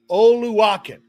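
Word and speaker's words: Oluokun: Um, I'm looking up the proper pronunciation right now. Foyed Oluakin. Oluakin. There we go. Oluakin.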